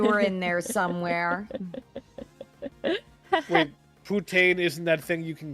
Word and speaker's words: poutine: Wait, poutine isn't that thing you can get with like the cheese. Ah, as Puta is Spanish. All right. Yeah, I know pa. No, no, that's um poutine, Dylan.